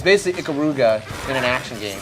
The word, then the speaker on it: Ikaruga: Well, if that's how you pronounce it, Dave, then I'm just going to stick with it. It's basically Ikaruga in an action game.